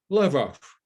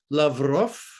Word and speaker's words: Lavrov: i mean tony blinken he still says ukraine ukraine and he still says i talked with lavrov love off well tony it's lavrov and it's ukraine on